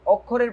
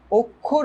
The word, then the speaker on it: অক্ষর: এটার উচ্চারণ কিন্তু অক্ষর না, এটার উচ্চারণ কিন্তু অক্ষর।